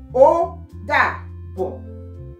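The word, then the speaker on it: ó dàbọ̀: Odabo.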